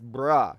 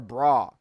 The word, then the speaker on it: bruh: I said it wrong. It's bruh or bra. So the younger kids they they they obviously still learning things and stuff like that and they say bra like a woman's bra.